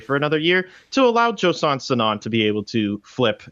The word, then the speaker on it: Joson Sanon: talk about this awesome recruit that ASU got Josan sonan did I say that right guys I got